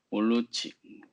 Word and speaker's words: Moloch: 몰로치, 몰로치라고도 하고 뭐 몰록이라고 읽기도 하는데 이게 뭐 부엉이 모양이거든요.